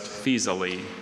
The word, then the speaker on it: Faesulae: Any alternate pronunciations? Just Fisali.